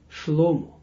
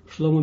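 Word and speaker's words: שלמה: and remember his name his right name is slow-mo slow-mo means comes from a word Shalom and this is when you pronounce it slow-mo and not in English it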